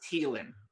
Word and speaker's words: Thielen: I take a lot of slack on Twitter about how I say his name. It's Thielen. It's of French origin, but whatever.